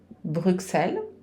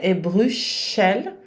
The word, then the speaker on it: Bruxelles: então o som é Bruxel ou som é Bruxel mas o que não vai ser brel como brel em português não o ess final não se pronuncia enquanto a mês de